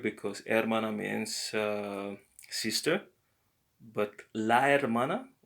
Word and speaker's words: hermana: It might be el hermana because there is an H at the beginning and it's kind of considered as a vowel in some cases because it's silent, and it's always silent, by the way, in Spanish.